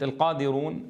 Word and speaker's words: القادرون: القادرون، غالبًا ما أسمعها ينتقل صوت التفخيم الذي في الراء إلى الواو، والأصل أن نقول او، رو، انظروا، صوت الراء فقط مفخم، لا ينتقل هذا التفخيم إلى الواو حين ننطق بها، فلا يصح أن نقول رو، مفخمة.